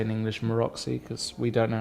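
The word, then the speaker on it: Maróczy: to pronounce anything um what language is that Hungarian Hungarian I would say maroxy yeah everyone has its own way I think it's like marosi marosi yeah guys let us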